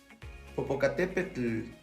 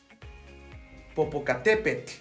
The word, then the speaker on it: Popocatépetl: Tlacatl, Cihuatl, Tepetl, Popocatépetl. Vean, la pronunciación no es tan exagerada. ¿Cómo hacer este sonido? Vamos a pegar nuestra lengua a la parte de arriba del paladar y vamos a sacar una T.